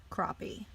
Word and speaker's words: crappie: and our dogs by the way this is pronounced crappie we can wonder what is it about non-human